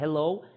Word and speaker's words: hello: Olha só, pronúncia correta de primeira informação, palavras em língua inglesa com inicial em H, a grande maioria delas terá som de r. Portanto, eu vou falar hello and, OK?